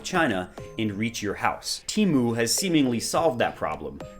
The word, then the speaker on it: Temu: for a website called Teemu not temu as I was calling it in my head apparently it's pronounced Teemo this junior varsity version